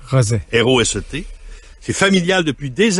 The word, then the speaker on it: Roset: Il y en a qui prononcent Rosé, mais Roset. Roset.